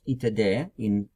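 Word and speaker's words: итд: Now in Russian, when they say itd, it's pronounced itd when you read something, but it means etc.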